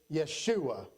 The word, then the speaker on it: Yeshua: In Hebrew, they would pronounce it Yeshua. The Greeks would say it Jesus.